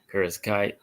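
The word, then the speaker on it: Kareckaitė: Diana Barbosa and Ernesta, how you pronounce the name? Kareckaite.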